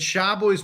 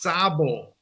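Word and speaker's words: Szabó: yeah just educated me that Shabbos pronounced Sabo ah see I didn't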